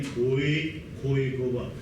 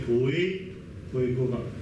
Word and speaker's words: Khoekhoegowab: Instead of, listen to my tone, instead of saying Khoekhoegowab, they would say Khoekhoegowab. This is the correct one. There are 4 tones in Khoekhoegowab. Khoe, just the second from bottom, that's the lowest one. But they pronounce it Khoe with the third from bottom. That means something totally different.